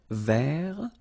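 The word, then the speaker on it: vert: remember rou ver so masculine form don't pronounce the final T ver feminine form ver so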